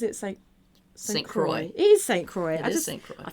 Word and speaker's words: St. Croix: It is St. Croix.